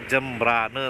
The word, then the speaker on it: Jembrana: Contoh seperti tadi kita masuk di Desa Sumber Kima, tapi dibacanya Sumber Kime. Terus kota negara dibacanya kota negara, Teman-teman. Terus kalau tulisannya Kabupaten Jembrana itu dibacanya Kabupaten Jembrane, Teman-teman.